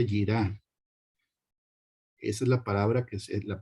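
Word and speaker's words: יראה: Strong es la H3374 y se pronuncia yirá.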